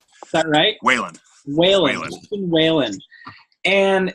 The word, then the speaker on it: Whelan: how do you say your last name wheelon that night Weyland Weyland Weyland and it's kind of funny how